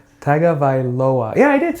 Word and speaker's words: Tagovailoa: Tagovailoa. You said it right. Tagovailoa.